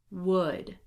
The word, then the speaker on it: would: So in all of these words here, the L is silent. Do not pronounce it. Here we go. Would, should, could, walk, talk, half, chalk, salmon.